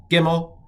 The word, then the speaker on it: Gimel: I'm going to pronounce this as G, and I'm going to pronounce this one as G.